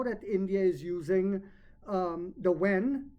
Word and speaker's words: yuan: So what will also happen is now that India is using the wen, it's spelled yuan, but it's pronounced wen.